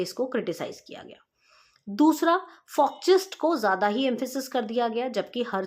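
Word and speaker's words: Volks: देते हुए सेविग ने वक्स थ्योरी या जिसको हम प्रॉपर प्रोनाउंस करते हैं फॉक्स थ्योरी दी थी जी हां फॉक्स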